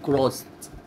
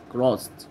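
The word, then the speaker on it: crossed: يعبر كروس، الاس بقى لما تيجي وراها اي دي، الاي دي تتنطق تاء، فتقول كروست بالتاء كده، كروست.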